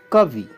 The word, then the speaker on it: कवि: करते हैं मुनि और इसी आधार पर होता है कवि कवि छोटी की मात्रा होती है बीमार बीमार बी